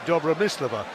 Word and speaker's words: Dobromyslova: suspect it wouldn't be Joey Slover it's me Dabra miss Leveaux and she said yeah it's been mispronounced so long now I've kind of got